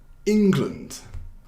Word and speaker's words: England: 그래서 이거는 England. 그래서 첫 번째 syllable? 이거 한국말로 어떻게 하는지 잘 모르겠는데 syllable이라고 해요. 영어로는. 그래서 첫 번째 syllable를 좀 강제하는 거예요. 그래서 England 이렇게 발음하는 거예요.